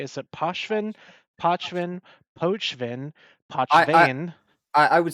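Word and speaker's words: Pochven: The way the word is constructed, if you follow most pronunciation rules, it becomes Pochvin rather than Pochvin because there's not a hard O sound there.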